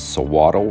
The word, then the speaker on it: Suiattle: so throughout this video the correct pronunciation is sawaddle rubber melody and i are entering the bakers nokwami national forest we're on forest road 26 national forest road 26.